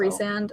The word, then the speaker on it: Rysand: Rysand. Well, John Rhys Davies. That's how you pronounce his name.